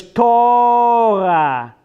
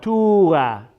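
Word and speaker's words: תורה: Is that a U or an O? You have a taf and a vav with a dot over the vav. So it's O. So it's Torah, not Tura.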